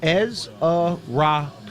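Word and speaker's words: Ezeiruaku: Ezrau. Easy. That is how you say you. Ezrau is easy to say. Donovan Ezra. Ezrau. That is how you say his last name.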